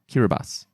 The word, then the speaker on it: Kiribati: oh controversial controversial um another example kiribati but it's apparently pronounced kiribati right it is on